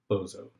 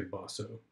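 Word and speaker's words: Boso: And his dialogue partner is a guy named Bozo. Okay, I think you're supposed to say Bosso, but I like to pronounce it Bozo, because that's just more fun.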